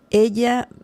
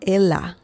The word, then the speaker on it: ella: Ella, ella, it's not ella. I've heard some people saying ella. I don't know why. Maybe because they get confused between Spanish and Italian. It's not ella. It's ella. It's a completely different pronunciation.